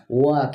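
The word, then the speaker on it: walk: वॉक इसमें L silent है।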